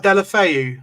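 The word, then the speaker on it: Deulofeu: I can't pronounce that. You on about Delafeu, the Everton Watford winger? Delafeu.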